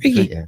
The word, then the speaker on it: Reiki: I pronounce it wrong. Is that right? Reiki? Reiki.